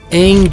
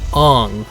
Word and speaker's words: Aang: The pronunciation of character names was completely wrong. Aang became Ong.